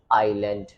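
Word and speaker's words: island: बात करते हैं की एस के तुरंत बाद अगर एल लेटर आता है एस के अगर तुरंत बात एल ए रहा है तो I will not pronounce S sound जैसे आपने ये शब्द सुना होगा आई एस एल ए एन दी इट्स आइलैंड तो वहां पर एसोसिएशन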